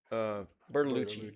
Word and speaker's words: Bertolucci: Bertolucci. Yeah. Berta. It's spelled Bertolucci.